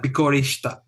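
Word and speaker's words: びっくりした: It's like bikurishita, basically, is how it's pronounced.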